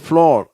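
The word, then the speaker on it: floor: ஆனால் இதனுடைய உச்சரிப்பை நான் இப்போ சொல்லிடுறேன். இது இந்த பக்கத்துக்குரியது இல்லை, இருந்தாலும் இருக்குது. இது வந்து ஃப்ளோர் அப்படின்னு வாசிக்கணும்.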